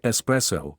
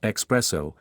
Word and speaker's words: espresso: The word espresso comes from the Latin expressus, meaning pressed out. The common mispronunciation expresso is a mistake, as the "x" does not appear in the original Italian, and it actually refers